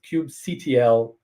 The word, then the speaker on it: kubectl: So I pronounce it kubectl. That's a choice. Don't fight me.